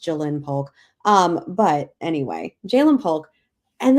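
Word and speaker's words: Ja'Lynn Polk: The Patriots duo, Javon Baker, Jalen Polk, those apostrophes really get me because it should be pronounced Jalen Polk.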